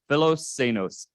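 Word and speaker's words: philoxenos: with the ending which is x-e-n-o-s anos so fellow cenos and we're going to go into each of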